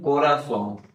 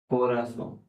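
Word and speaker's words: corazón: Next word मैं लिख रहा हूं कोरासोम। क्या लिखा मैंने? कोरासोम। अब मैं बताता चलूं कि जेड को स्पेनिश में स कहते हैं।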